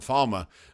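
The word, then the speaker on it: Falme: Of course, we're not in Falma, but which I'm still going to pronounce that Falma. I'm sorry, I don't like the pronunciation Falm. So Falma.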